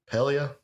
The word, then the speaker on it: Pelia: need you to settle how do we say her name pelia pelia okay that doesn't seem right but I'll go with it um so pelga is